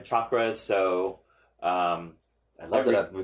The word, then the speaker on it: chakra: are experts on this, you should be pronouncing it correctly. It's chakra.